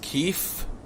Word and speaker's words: Kyiv: that guy spamming misinformation it's pronounced keef let's not pronounce that